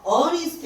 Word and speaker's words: honest: 그 다음에 honest는 H지만은 얘는 첫 글자가 소리가 안 난다 그랬죠? 그래서 honest 이렇게 납니다.